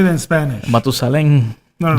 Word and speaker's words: Matusalén: Matusalem. No, how would you say the whole thing? It will be este más viejo que Matusalem. Matusalén.